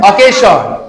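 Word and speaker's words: occasion: ওকাশন। অকেশন উচ্চারণ হচ্ছে অকেশন।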